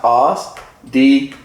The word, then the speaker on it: OSDBU: Let me tell you how it's pronounced. OSDBU. It's pronounced OSDBU.